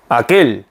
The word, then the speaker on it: aquel: aquel. 네, 이렇게 발음합니다.